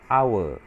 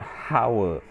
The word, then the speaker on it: hour: the hatch is silence you don't sound the h so you pronounce it our not howl so that's why you